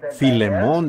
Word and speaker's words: Filemón: Así que Filemón dijo alguien allá atrás, lo cual creo que es la pronunciación correcta.